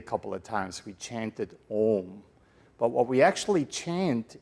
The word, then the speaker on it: Om: spelled also a-u-m because it's the sound of three letters ah for creation ooh for sustenance or sustaining and um for Destruction ah ooh m right